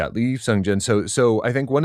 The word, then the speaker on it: Lee Sung-jin: Lee Sung-jin? Lee Sung-jin.